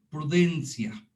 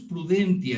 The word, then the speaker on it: prudentia: voz natural, es ius prudentia. La forma que se escribe es ius prudentia. Ya ven que la letra T en latín se escribe, se pronuncia como C.